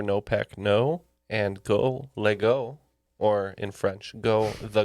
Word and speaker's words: Lego: you made out of legos um very very important question if uh yes kevin pronounced lego not legos there are tiny traps